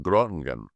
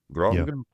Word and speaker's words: Groningen: who now lives in Groningen. Groningen? And Groningen, yeah. I can't speak Dutch. The hard G.